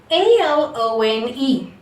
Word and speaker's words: alone: A-L-O-N-E. We are not taking the sound like A. alone, alone. It is alone, alone, alone.